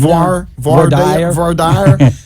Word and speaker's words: voir dire: as a North Carolinian, voir dire. It's voir like dire. my cousin Vinny.